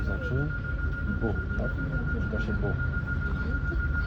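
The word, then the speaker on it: beau: Czyta się bu. Masz trzy samogłoski. B, E, A, U, a to bu.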